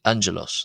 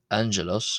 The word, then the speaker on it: ⲁⲅⲅⲉⲗⲟⲥ: Well, simply because I believe Coptic originally didn't have or doesn't have the same ing or ng sound as the English word sing which Greek uses uh to pronounce which Greek uses when uh when uh pronouncing the pronouncing the word angelos. The Greeks would pronounce it differently. Um they would have this ng sound which we have in English.